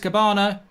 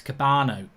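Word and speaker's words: Kebano: Oh, he's on the back post, Cabana. I got his name wrong. I don't know why. At the Coco Cabana. Bloody Barry Manilow. It's not. His name's not Cabana. It's Cabano. Cabano. Not Cabana. Cabano.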